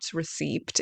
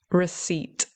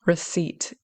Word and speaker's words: receipt: Okay, so yes, the common mispronunciation is pronouncing the P. Okay, people try to pronounce it as receipt. Okay, it's not receipt, it's receipt. Okay, receipt.